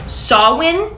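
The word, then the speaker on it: Samhain: because it's literally spelled Sam ha but it's pronounced sawin saw I don't know about that babes but anyway Colonel Colonial anyways English sawin is a Celtic Festival that was celebrated in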